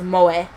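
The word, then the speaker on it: 萌え: entertainment centered around characters who possess such traits pronounced moe just another day akihabara i take out my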